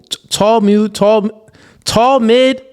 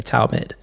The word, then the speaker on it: Talmud: I still said it wrong. Talmud. Oh, Cooley. Tall mid. Let me see. Tall mid is what it read as. Talmud. Oh, Talmud. Okay, Talmud.